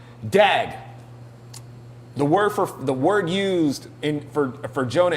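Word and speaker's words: דג: It's spelled dag, but it may be pronounced dog or something like that.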